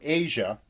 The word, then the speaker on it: Aja: So the album then moves from Black Cow to Asia, the title track of the album, and this really is. It's kind of interesting that Asia is spelled AJA, but this song is